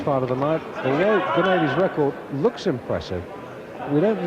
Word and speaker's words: Gumede: Pronounce it for me, Dave. Gumede. Gumede.